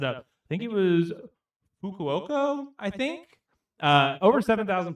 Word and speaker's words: Fukuoka: I think it is Fukuoka, I think.